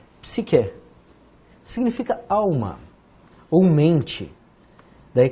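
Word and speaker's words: ψυχή: Começamos com PS. Aqui um Y, psi, um Q e um E. Psique. Psique.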